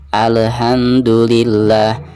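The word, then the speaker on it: الحمد لله: Alhamdulillahi rabbil alamin. Alhamdu ya, alhamdu. Ini kadang lam di sini suka ada pantulan. Alhamdulillah, alhamdulillah. Jadi tidak boleh ada pantulan karena huruf lam ini bukan merupakan salah satu daripada huruf qalqalah ya.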